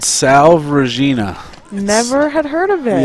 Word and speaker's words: Salve Regina: a school in rhode island how do you pronounce it yeah it's called salve regina never had heard of it yeah i didn't